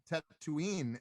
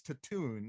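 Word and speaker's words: Tatooine: like i for forever i actually found out that tat tattooine that's how you say it yeah yeah i thought it was to tune or tattoo or something like i don't know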